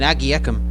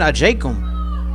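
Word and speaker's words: Agyekum: We've been saying Agiekum as the way it's spelled. It is pronounced Christian Ajakum.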